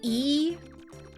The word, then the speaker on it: Lee: Um, Lee is typically E. It's just romanized with an L with that surname.